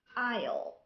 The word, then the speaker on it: aisle: بمعنى ما عندناش بزاف الكلمات، عندنا كلمات قليلة اللي فيها silent S like island, aisle, silent T.